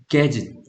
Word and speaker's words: gadget: 동사에 put together가 붙으면 gadget, 장치입니다. 장치. 얘네 가제트 형사 들어봤습니까? 만화 가제트 형사. 네. 일본인들이 발음이 안 돼가지고 gadget을 가제트라고 하는 겁니다.